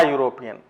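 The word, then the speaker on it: European: है यहां पर यूरोपियन, ये प्रोनाउंसिएशन इसका होता है या से, इसका जो साउंड है वो या है, यानी कि यहां पर हम ई होते हुए भी हम ए का यूज करते हैं, आ यूरोपियन।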